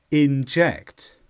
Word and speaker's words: inject: here's the first one this is a verb and the stress is on jacked inject and in this meaning inject